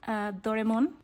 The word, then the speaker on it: Doraemon: Okay, so this is a bunch of Doraemon, that's how we pronounce it in Mexico, I'm not sure, but like Doraemon stickers that I love.